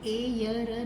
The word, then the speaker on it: air: और ये चिन्ह आपके लिए इसलिए लगाया है, ये निशान इसलिए है क्योंकि इसको ए य र नहीं पढ़ना है, इसे पढ़ना है एयर।